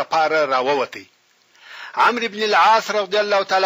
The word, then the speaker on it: عمرو: ورونو تاسو پوهیږئ چې عمر په ویلو کې درې حرفه ویل کېږي مګر په لیکلو کې څلور حرفه لیکل کېږي. په آخر کې داسې واو زیاتیږي چې تلفظ نه پکېږي او دغه واو د دې دپاره دی چې په لیکلو کې د عمر او عمر په منځ کې فرق وسي.